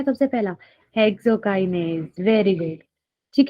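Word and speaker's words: hexokinase: इट इज नॉट हेक्सोकाइनेसिस, इट इज हेक्सोकाइनेज।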